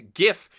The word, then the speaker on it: GIF: for the record however it is GIF with a hard G what's the difference one